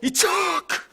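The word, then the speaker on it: יצחק: 자기 아들을 부르고 싶으면 아랫배에 힘을 빡 주고 이츠하크 이츠하크 이래야 돼요. 비웃었어요. 뭐 그래도 아들 생기면 되죠. 뭐 이츠하크면 어때요? 우리야 뭐 그렇게 힘들게 발음 안 해도 되고, 미국 사람들도 힘드니까 영국 사람들도 아이작하고 발음 부르기 쉽게 바꿔놨지만 지금도 히브리 사람들은 이츠하크 해야 돼요.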